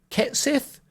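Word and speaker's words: Cait Sith: Wait, Kate Sith seems to be pronounced Ket Sith, but has undergone a major design overhaul.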